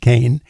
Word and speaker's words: Cahen: len Co Kane it's spelled c a hen pronounced Kain her book is fire up Innovation and Ellen